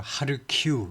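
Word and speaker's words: Kharkiv: 그다음에는 제 2의 도시가 카르키프 카르키프 이제 우리 우리나라에서는로 하르키 이렇게 하는데 아마 우크라이나 언어로는 하르 키라고 발음 하는가 봐요 근데 영어에서는 카르키프 발음하죠 제 2에서도 이쪽에서도 전투가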